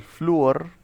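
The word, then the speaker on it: flúor: y luego sigue el fluor, que es con acento en la U.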